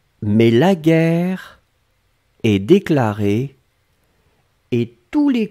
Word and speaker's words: guerre: Guerre, on écrit effectivement G-U-E-R-R-E. Donc vous avez le double R donc qui ouvre la prononciation du E. Et donc c'est la raison pour laquelle vous prononcez guerre.